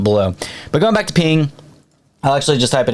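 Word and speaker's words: Peng: It's called Ping, but it's spelled P E N G.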